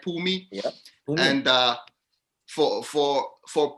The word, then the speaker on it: Phumi: so your name like it's two syllables right pooh and me right pumi and uh for for